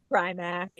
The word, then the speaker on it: Primack: Primack or Premack? Primack.